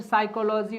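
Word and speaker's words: psychology: को नहीं लिखेंगे लिखेंगे लेकिन बोलते समय पी का जो साउंड होगा उसको क्या कर देंगे नहीं करेंगे नहीं करेंगे समझ में आया सर साइकोलॉजी वर्ड हो गया और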